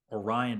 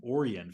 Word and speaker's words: Orion: former Georgia Tech commit Orion to Fisher I actually got that name pronounced correctly now I kept calling him orian for the longest time or Ryan Fisher uh long lanky guy